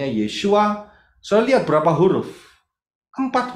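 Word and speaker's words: ישוע: sang Putra itu bacanya Yod Shin W Ain bacanya yesua sa lihat berapa huruf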